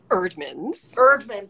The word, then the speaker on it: Eerdmans: Erdman, but it's a double E.